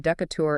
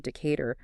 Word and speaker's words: Decatur: Oh, I can only imagine if you stroll in and call it Decatur instead of Decar, the locals are just going to look at you sideways.